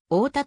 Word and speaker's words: 太田: 増加している太田の発音アクセントは一般的には太田であるのにた石地元住民は太田と発音するなお太田市八尾歌駅と続いていう場合は一般的なアクセントになる東京都心から北西